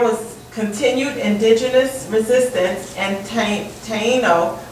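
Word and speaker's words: Taíno: Okay, so let me give you the pronunciation of it, okay? Taino?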